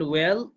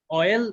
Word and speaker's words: oil: Also happens, এটা ঘটে when coal and ওয়েল অয়েল, এটা কিন্তু আমরা উচ্চারণটা ভুল করি, এটা ওয়েল বলি আমরা, ঠিক আছে, এটা বলতে হবে অয়েল।